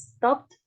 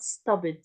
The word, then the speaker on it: stopped: all the traffic stopped we pronounce it as stopped not stoed okay stopped stopped so